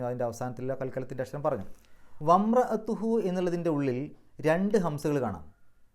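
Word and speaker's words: وَامْرَأَتُهُ: നേരെ മീമിന്റെ സുക്കൂനാണ് പറയുക വംറത്തുഹു അവിടെ അങ്ങനെ ഒരു അക്ഷരമേ ഇല്ല എന്നുള്ള രൂപത്തിലാണ് പറയുക അത്തരം ഹംസകളെ ഹംസത്തു വസ്സിൽ എന്നാണ് പറയുക വംറത്തുഹു അതേസമയത്ത് പിന്നീട് വന്ന റാഇന്റെ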